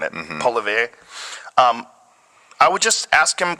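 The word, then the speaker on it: Poilievre: Polivet.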